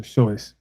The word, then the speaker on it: Seuss: It looks like Dr. Seuss, but I've learned it's Dr. Sey. The correct pronunciation, John.